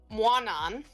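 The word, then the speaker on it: Mawnan: Guanan.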